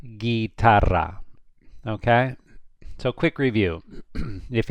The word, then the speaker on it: guitarra: You do not pronounce the U here. So this would be pronounced guitarra, guitarra.